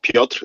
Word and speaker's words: Piotr: Correct pronunciation is Piotr. It's not so easy. Piotr with a little tiny kind of a hidden R at the end, right?